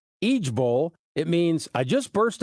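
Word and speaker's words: IJBOL: the internet is pushing i-j-b-o-l pronounced each Bowl it means I just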